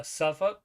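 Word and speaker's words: Suffolk: old stomping grounds uh suffk norfol and V Beach yeah we don't pronounce the L um oh still trying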